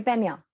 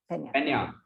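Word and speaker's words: Peña: is a member from Bombay Pina. That's how it's pronounced, right? Pina? Bombay Pena. Pena.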